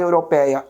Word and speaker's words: europeia: Como é que eu separo a palavra europeia? Europeia. Percebe que o PEI é onde existe a minha tonicidade, é onde existe a minha sílaba tônica.